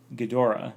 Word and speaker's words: Ghidorah: crowns Aggie drug but the Japanese pronounce it Ghidorah so you can say